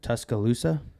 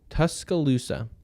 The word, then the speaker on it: Tuscaloosa: tuscala how do you say it tus tus Tuscaloosa thank you Tuscaloosa so they went in and won in Alabama